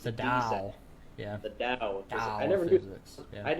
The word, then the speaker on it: Tao: tower of physics the tao of physics yeah i never thought it's not pronounced with a t sound it's the diaz yeah the dao i never knew i